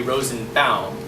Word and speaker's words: Rosenbaum: the pronunciation should be rose and bound like l frank baum if it was bomb it would have an l instead of a u like lip balm i once had a